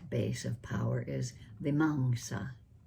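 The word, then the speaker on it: vīmaṃsā: The last base of power is the manga. V I m a msa. M A M in Pali is sounded like M A H N G Manga. The stress is on the second syllable.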